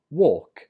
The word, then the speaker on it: walk: British English so 22 we pronounce this word work work remember 21 was walk this one is work walk and work the difference is in the vowel or and ER walk and work for